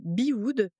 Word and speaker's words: Bewood: À la base fondatrice d'une marque de bijoux, tu gères maintenant l'atelier Bewood. Déjà, je l'ai bien prononcé?